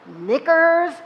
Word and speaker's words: knickers: And what about all the words that should begin with an N but begin with a K? A K. Of all letters, a silent K. Knuckles, knickers. Why don't we say the K? I don't canoe. I don't canoe. The K is just sitting there with nothing to do.